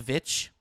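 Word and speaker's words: VVitch: it's called The Witch but the way it's spelled it's two v's so it's like the V vich yes yes it's vich V please pronounce please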